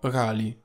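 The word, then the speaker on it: Ghali: oppure rispettato e che in questa lingua, che è quella originale del nome, Gali si pronuncia Gali.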